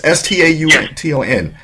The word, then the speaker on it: Staunton: saying this wrong, but I believe it's pronounced Staunton. It's Staunton. Is that? Am I saying it correct?